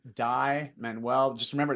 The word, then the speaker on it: Dai: with that medium and it's just my name die Manuel just remember it's spelled a i and then menu m n